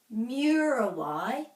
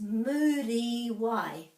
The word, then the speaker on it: Muriwai: Another thing that happens very commonly is that the U is pronounced like you, but it's actually U. A, e, I, o, u. So many people say Murawai, but this is Muriwai.